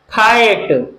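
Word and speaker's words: fight: मात्रा फपे और ई, और जी एच को साइलेंट रखेंगे, इससे हम कुछ नहीं लिखेंगे, और ट से लिखेंगे टी, फाइट, फाइट, एम आई एन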